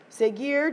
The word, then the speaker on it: seguir: Seguir, just like it was in the preterite, is an exception, okay, because you don't pronounce the U.